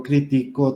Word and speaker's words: critico: Pero si digo critico, yo critico tal decisión, es una palabra grave.